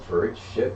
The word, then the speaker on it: Pariksit: Maharaja Pariksit. Is it pronounced Pariksit?